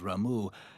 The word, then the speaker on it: Rau: Yep, it is officially pronounced Rau matching its Japanese katakana. Note, English localizations and player communities frequently use Rama or Rama, influenced by the Hindu deity Rama.